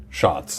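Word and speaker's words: Schatz: In case it's unclear, Wheeler has a German printing of treasure that is spelled S C H A T Z, which is pronounced, we're told, shots.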